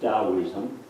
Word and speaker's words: Taoism: we go back to taoism you pronounce the tea is a deed don't you yes so stalinism taoism